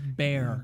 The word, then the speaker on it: Bjorn: Bjorn and the Stormcaller. Bjorn. That's Bear.